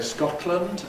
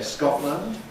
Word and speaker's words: Scotland: Some people say Scotland others say Scotland. Do whichever you like. You can have both lateral release and glottle stop if you like and say atlas Scotland.